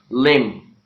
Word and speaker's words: limb: Well, there are many words in which B is not pronounced. Letter B means the sound B is not pronounced. For example, if you talk about the sounds lamb, calm, numb, okay, limb, and climb, okay, bomb, and there are